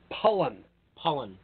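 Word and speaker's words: Pollan: Michael Pollock, not Stephen Pollock. Pollen. Yep. I get his name wrong every time.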